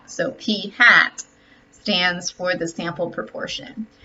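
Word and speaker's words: p̂: on top of it we will do pronounce this actually as hat so P hat stands for the sample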